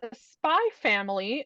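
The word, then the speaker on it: Spy × Family: I Googled it and apparently you don't pronounce the X it's just there for Aesthetics but I I kind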